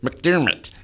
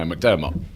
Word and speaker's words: McDermott: I've always noticed that Americans will say McDermott, and it sounds like Kermit the Frog. Hart, and McDermott. Yeah. It's like, no, McDermott.